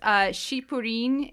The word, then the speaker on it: Cyprine: So Cyprine is pronounced Shipurin in Japanese, and Pitolol is pronounced Puchiroru in Japanese.